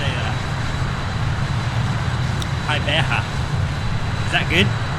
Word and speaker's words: Gqeberha: How do you pronounce the name in English? Oh yeah. How am I supposed to say that? Gqeberha. Is that good? Right. Okay. Gqeberha.